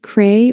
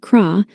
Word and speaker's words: crayfish: I heard that crayfish can be pronounced like cray or like craw, but the only logical pronunciation in this battle was creass.